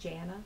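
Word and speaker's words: Jana: can I have you say your name and spell it for me my name is Janna spelled j a n a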